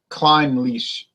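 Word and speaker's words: Clynelish: Jason for he says it is pronounced more like climb leash okay and you mentioned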